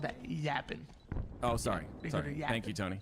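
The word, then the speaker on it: Yappin': i n no G Yapp y PP i n okay apostrophe you say it like that 45 to 21 favor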